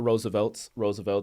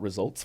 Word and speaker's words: RSVLTS: Shout out to Roosevelt's, and they spell it with a RSVLTS, tiny s. And a lot of people thought they were called Results for the longest time because it looks like that.